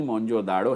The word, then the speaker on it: موہنجو داڑو: یہ تیسرا road to موہنجو داڑو، جو اصل تلفظ اس کا ہے، آگے سمندر نہیں موہنجو داڑو ہے.